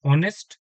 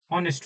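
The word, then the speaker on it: honest: ऑनेस्ट में आप लोग देख रहे होंगे पहले एच है बट यह हमारे पास क्या है? यह हमारा साइलेंट है। तो हम लोग यहां पर से ओ से हम लोग इसको पढ़ते हैं जो कि ऑनेस्ट होता है।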